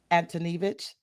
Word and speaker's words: Antoniewicz: and today I'm being joined by Dr antonich good did I say it right yeah you